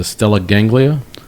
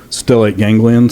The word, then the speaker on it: stellate ganglion: I may mispronounce it, the stellate ganglia? Is that? Stellate ganglion.